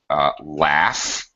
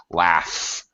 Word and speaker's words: laugh: For example, in the word laugh. All right, obviously that ends with a GH, but it certainly sounds like an F sound. It sounds like an F, laugh.